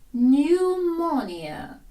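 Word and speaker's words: pneumonia: вражає що печінку livver newmia пневмонія зверніть увагу це грецьке слово в ньому комбінація PN P мовчить не читається newmia пневмонія В нас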